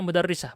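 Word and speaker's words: مدرّسة: Orang sudah tahu, oh ini maksudnya mudarrisah, bukan madrasah.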